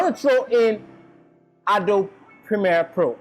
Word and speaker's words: Premiere: to throw in adult Premiere Pro I don't know if I'm pronouncing it well but most people say it's Primera most of it is Premiere but whatever you call it it's Premiere Pro it's a video editing